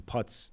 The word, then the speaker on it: Putz: a guy called Austin putz emailed us in I've checked that is how you pronounce it he specified it's like JJ putz sure former closer Seattle